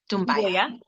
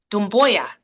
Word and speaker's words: Dumbuya: And she is, did I pronounce that right, Hadiatu? Is it Dumbuya? Dumbuya. Dumbuya.